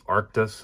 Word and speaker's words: Arctis: It's the, I think it's Arctis is how it's pronounced, 7X.